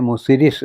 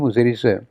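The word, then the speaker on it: Muziris: അതിന് ഗ്രീക്ക് കാരണം അതിന്റെ ഗ്രീക്കുകാര അതിനെ മുസിരീസ് എന്നാണ് വിളിച്ചിരുന്നത് അവരുടെ ഉച്ചാരണത്തിൽ അത് അങ്ങനെയാണ് മുജിനി അല്ലെങ്കിൽ മുസിരീസ് ഹിപ്പാലിസ് എന്ന ഒരു ഗ്രീക്ക്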